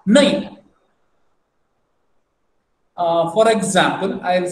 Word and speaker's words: nai: Nai. See, na, naka, nai. Nai means N-A-I-N I have written. So, the pronunciation is again nasal.